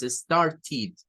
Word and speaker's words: started: Entonces, esto no se dice started, no tiene que ser ted, no, es started, started, con I, started. Started es la pronunciación.